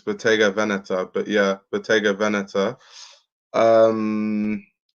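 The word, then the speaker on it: Bottega Veneta: there was um obviously beta vaneta well that's not how you pronounce it it's beta vaneta but yeah beta vaneta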